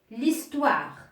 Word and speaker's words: histoire: Ou bien devant un nom qui commence par un H muet. Par un H muet. Exemple, l'homme, pour un nom qui est masculin, l'homme, ou bien l'histoire.